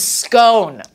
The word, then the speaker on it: scone: I run the BBC iPlayer app, but I have to be in the UK or pronounce it scone in order to stream anything. Yeah, people don't know that. But I am just not willing to do that because it is scone, right?